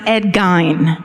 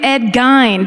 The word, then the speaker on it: Gein: and this is true, it's actually pronounced Ed Gein. No. That's the correct pronunciation. No way. Yes, way. That's the correct pronunciation. But if I'd gone, I'm going to do Ed Gein, people would be like, what the fuck is she talking about?